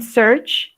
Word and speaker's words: search: Y aquí en search no se pronuncia la A, solo dice search.